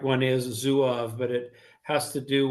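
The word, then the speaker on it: Zouave: I've in my lifetime I've heard of many pronunciations. Correct one is Zuov, but it has to do with um uh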